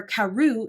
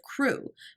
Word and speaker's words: Crewe: Madame Pascal pronounced it as if it were Carew instead of Crew, but that might merely be a matter of pronunciation.